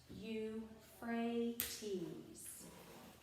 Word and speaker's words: Euphrates: the next underlined sentence euphrates means that which makes fruitful notice how that is pronounced you fray tease okay turn the page